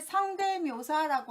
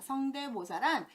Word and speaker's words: 성대모사: 두 번째 성대묘사라고 하는데 성대묘사가 아니라 성대모사입니다. 성대모사란 소리성, 띠대, 본뜰모, 백길사에서 우리가 연예인이나 개그맨이나 유명한 사람들의 목소리를 다른 사람이 똑같이 흉내내는 것을 성대모사라고 표현하는데 성대모사예요.